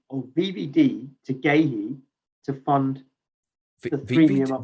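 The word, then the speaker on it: Guéhi: DB, do you like the sound of VVD to Gahey to fund the premium up top? VVD to who? Gahey, the Crystal Palace centre back. Oh, Gahey. That's how you pronounce it.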